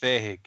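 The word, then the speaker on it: fähig: I'm just gonna post this in case anybody's curious as to how to actually pronounce it. So it's Fahig.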